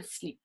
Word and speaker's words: slip: Et parfois peut être prononcé comme des mots comme le cap. So can be pronounced with a few words like le cap ou un slip. Okay?